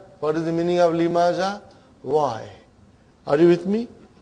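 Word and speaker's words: لِمَ: Lima. So ha will come as a silent, lima. You are not pronouncing it because there is a sukoon on it.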